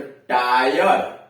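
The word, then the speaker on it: tyro: यानी जब किसी वर्ड के बीच में वाई हो और वाई के बाद आर ई हो तो वाई का उच्चारण आई अ होता है। जैसे टी वाई आर ई, तो टायर, टी वाई आर ई, टायर। टायरो, टी वाई आर ओ, टायरो मतलब नौसिखिया, टायरो नौसिखिया।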